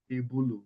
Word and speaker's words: tebulu: Table is pronounced Tebulu. Remember I talked about I was explaining what a loan word is.